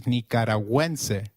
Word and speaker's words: nicaragüense: Gu, when followed by another vowel like in gue, is pronounced like gue in Gwen. So, let's try saying Nicaragüense again. It is Nicaragüense.